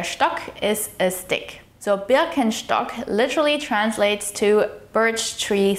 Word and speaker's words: Birkenstock: This is pronounced Birkenstock in German.